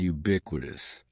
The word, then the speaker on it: ubiquitous: Don't be fooled by the first letter U. We pronounce it with a Y sound, ubiquitous.